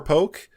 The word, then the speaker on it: poke: Pretty sure it was poke. It has an accent on the E.